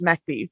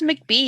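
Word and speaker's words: McBee: like no no it's macbee like i'm sorry yeah i i love it when people say where um where is mcb yet i'm like it's mac b but it's spelled m m-c-d-b-e-e and it's mac and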